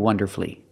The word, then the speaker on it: wonderfully: l l y and I said the U is silent the U is silent in these three words masterfully beautifully and wonderfully and it's true that